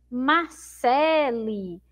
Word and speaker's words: Marcele: vamos ver Marcele Marcele Então observa em qual é a sílaba mais forte da palavra Marcele Então essa sílaba que é pro pintou de vermelho ó fé e aí lá no final eu tenho uma sílaba ali né Marcele como essa sílaba lhe não é uma sílaba forte eu não vou escrever